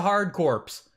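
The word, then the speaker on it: Hard Corps: Pronounce it how I want to. Yeah, Contra Hardcorps with a hard P in there.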